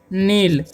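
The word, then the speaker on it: know: पढ़ेंगे नीट ठीक है और के एओ डब है तो इसे हम पढ़ेंगे नो यहां पर भी के साइलेंट है इसे पढ़ेंगे हम लोग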